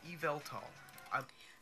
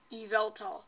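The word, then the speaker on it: Yveltal: then for the pokemon y mascot it is pronounced evaltol evaltol so you can get either eval doll or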